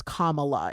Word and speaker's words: Kamala: name correctly so uh just letting you know it's commala if you hear it